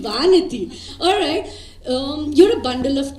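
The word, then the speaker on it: Vanathi: Okay, Vanati. Vanati. Yes. Vanati. That's the right pronunciation, Vanati.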